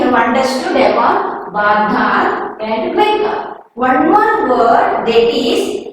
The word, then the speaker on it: Mecca: Next one more word, Mecca. See Mecca spelling? M-E-C-C-A. K pronunciation, but here we are not using K. C-C-A, Mecca.